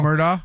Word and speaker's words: Murdaugh: Murdaugh. Yeah, Murdaugh.